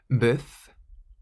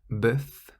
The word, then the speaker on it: bœuf: Bœuf. Bœuf means beef, and you pronounce the F on the end. Bœuf.